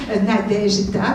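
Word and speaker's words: Nadezhda: Le nom de Nadejda elle-même s'écrit avec un Z, mais ça se prononce J, comme Nadej. Nadejda, comme notre prénom Nadej.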